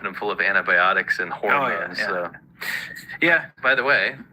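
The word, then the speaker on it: ホルモン: But China's pumping them full of antibiotics and hormones. So. Yeah. By the way, little Japanese lesson for you. How do you say pig intestine in Japanese? Hormone.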